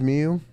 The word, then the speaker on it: Miyu: And she walks up to me, dead ass, looks me straight in the eyes and says, it's Mew, like the Pokemon.